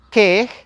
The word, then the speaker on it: Quej: Apellido número 4, que en español se pronuncia Se. Creo que muchos amigos se apellidan de esta manera, pero la pronunciación correcta en maya sería Quej, Quej, Quej, que proviene del vocablo venado.